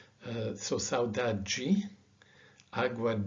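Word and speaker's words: saudade: as a d with a j uh so sauda ji agua g beber so although this word is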